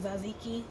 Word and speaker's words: tzatziki: I know the T is silent, so I think it's like tzatziki, but it's basically a yogurt sauce.